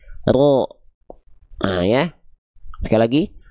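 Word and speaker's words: ر: Jadi yang nempelnya itu bagian punggung lidah. Sedangkan ujung lidah karena dia bukan bukan nempel bukan yang nempelnya bukan ujung lidahnya banget. Jadi dia enggak nempel malah membuat sedikit seolah ada e furjah atau celah kecil di sini ya. Sehingga ketika kita lafalkan pelafalannya seperti ini.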